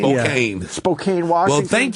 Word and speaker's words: Spokane: Spokane? Spokane.